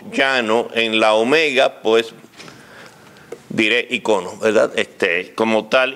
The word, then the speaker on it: icono: correcta en español del en griego se dice eicon y en inglés icon me dice icono consulte el diccionario real de La Academia Española para estar seguro y me da ambas pronunciaciones y icono luego como estoy acostumbrado